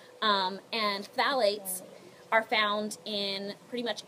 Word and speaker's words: phthalates: in these fragrances everyone repeat after me Val eight Bally's so it's spelled ph th ala tes and phalates are found in pretty